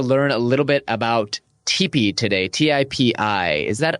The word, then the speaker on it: TIPI: really excited to learn a little bit about TP today tii is that how I pronounce it yes it is yes TP it's